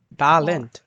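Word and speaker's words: Talent: এসোলার ট্যালেন্ট ট্যালেন্ট এখানে আছে এ না ইংলিশ না এটা হচ্ছে টলেন্ট ওয়াও ভে ভাস ইস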